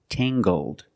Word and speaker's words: tangled: her hair is Tangled using the nasal sound and the hard G Tang GG Tangled her hair is very